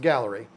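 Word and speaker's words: Gaahleri: And yes, it's pronounced Gallery. If you want to know for a fact that it's pronounced Gallery, all you got to do is go to their YouTube channel and you will hear them pronounce it Gallery. But if I didn't know that, I would struggle too because it's spelled really weird.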